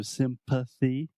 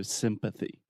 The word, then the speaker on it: sympathy: th in there so sympathy if you don't say the th this could be confused with Symphony which is an orchestra so sympathy sympathy excellent and empathy